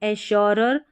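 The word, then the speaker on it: assure: शर करके पढ़ा जाएगा जैसे कि यहां पर है एश्योर में है यहां पर डबल एस है तो उच्चारण सेम ही रहेगा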